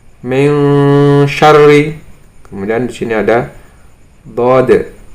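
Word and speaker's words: من شر: Contohnya di sini ada nun sukun bertemu dengan sob, membacanya adalah fangsob, fangsob. Kemudian di sini ada nun sukun bertemu shin, min syarri, min syarri.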